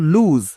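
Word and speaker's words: lose: ফেলি ইফ উই লুজ এটার উচ্চারণ কিন্তু আবার লস না এটা হলো লুজ তাহলে এখানে যেটা ছিল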